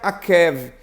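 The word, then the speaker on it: עָקֵב: Quando você quer retratar sobre calcanhar, você pronuncia Akev. Quando você quer tratar de enganador, você pronuncia Akav. Mas os dois se escrevem da mesma maneira.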